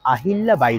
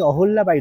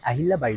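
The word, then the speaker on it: অহল্যা বাই: আপনাদের সঙ্গে সেটা হচ্ছে এই রাস্তাটার নাম হচ্ছে রানী আহিল্লা বাই রোড যদিও এটাকে কেউ কেউ রানী অহল্লা বাই রোড বলে কিন্তু এটা হচ্ছে আসলে রানী আহিল্লা বাই রোড এবং চলুন একটু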